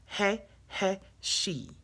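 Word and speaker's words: Hahasiah: The pronunciation is He-He-She, He-He-She.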